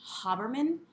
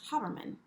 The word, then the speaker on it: Haberman: her last update video she pronounced her last name ha Berman I think everyone in the cross-stitch world says Kathy Haberman from hands-on design it's huh vermin you know Kathy did